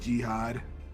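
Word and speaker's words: Giott: Last we have, I'm not even going to try to pronounce this correctly. Last we have, Jihad or Giat, whatever. I said Jihad.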